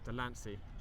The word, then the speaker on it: Delancy: she's done well at delaney just to get up on the ball oh god for a dusk goal kick guys i'm sorry i've realized i've been mispronouncing today it's delancy sorry for that she's